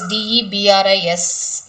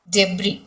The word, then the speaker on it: debris: people from uh this d e b r i s, that is debris. Debris. Okay, you have the letter s there, but it is debris.